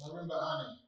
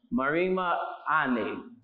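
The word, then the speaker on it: Marimba Ani: Pronounce her name for me, Kwesi. It's Marima Ane. Marima Ane.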